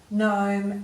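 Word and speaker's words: gnome: we're going on to the silent G in sign design assigned NAT Nome and gnarly so you've already looked these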